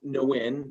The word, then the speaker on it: Nguyen: But the proper way to say it is actually Nguyen. So the NG Nguyen. is actually, yeah, it's actually silent.